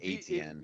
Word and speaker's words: Etienne: pronounced If ATN.